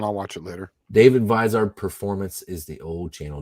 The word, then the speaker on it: Vizard: Vizard is the correct pronunciation of it. It's David Vizard's infamous 128 cam spec formula.